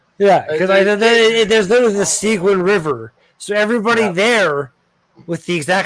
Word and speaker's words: Seguin: Here where I am in North Bay, my current boss for my job, his last name is Seguin, which is spelled SEGUIN. Yeah, because the U is French sound.